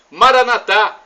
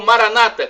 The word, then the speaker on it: Maranatha: aramaico dialeto de Jesus eu clamo Maranatha como dizemos nós católicos ou Maranata como dizem nossos irmãos separados evangélicos somos todos irmãos somos todos os cristãos não importa pronúncia e o significado também